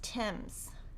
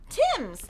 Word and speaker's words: Thames: bundle of american gatherings thames is produced is pronounced tim's tim's oh i was totally wrong can we get